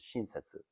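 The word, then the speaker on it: 親切: in the chinese characters the japanese pronunciation of the chinese characters is shinsetsu which in colloquial japanese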